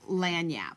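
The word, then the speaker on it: lagniappe: that I absolutely love it's called lanap and it's spelled l a g n a i PP lanap and when lanap means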